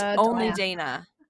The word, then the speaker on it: Dana: look at Dana and pronounce it Donna.